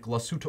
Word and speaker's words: Glashütte: The system is propelled by a caliber 95-1 manual wind Glashütte Original, because they use the hard G in Germany.